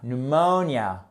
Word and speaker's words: pneumonia: ce n'est pas une pneumonia c'est une pneumonia pneumonia vous voyez à quel point le mot ressemble